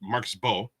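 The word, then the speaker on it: Marcus Mbow: um Marcus M Marcus I believe it's just Marcus Bo yeah they don't pronounce the M um Marcus Bo look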